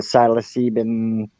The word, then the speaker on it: psilocybin: the sumatriptan drug is closely related to the psilocybin.